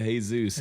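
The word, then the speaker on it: Jesús: you and I said well I don't think this Jesus pronounces it that way he's a hey-zeus yeah but not I'm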